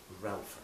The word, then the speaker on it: Raphael: and died very young, called Ralph, I think he pronounced it, Samuel. Oh yes, Raphael.